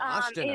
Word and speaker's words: Ostina: Our guest is Pavlina Ostina. By the way, what a lovely name. Now, Ostina. Thank you. Ostina sounds Italian. Is it? Well, it's actually, it's pronounced Asta like pasta. Oh, and Ostina.